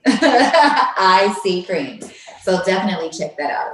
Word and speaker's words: EyeSeaCream: The social media handle for that is IC Cream, which is spelled EYESEACREAM. So literally, IC Cream.